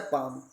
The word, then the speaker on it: palm: जैसे एक वर्ड और होता है पाम, PALM, इसको भी पाम पढ़ते हैं, पाम मतलब होता है हथेली, इनमें भी एल साइलेंट होता है।